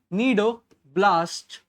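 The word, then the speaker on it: cnidoblast: तो उसके अंदर नीडोब्लास्ट सेल्स थे, उसके अंदर क्या थे, यहां पर पहला पॉइंट, हैव नीडो, सी इसमें साइलेंट है, नीडोब्लास्ट sales, have नीडोब्लास्ट cell, जो इसमें बिल्कुल भी नहीं थे।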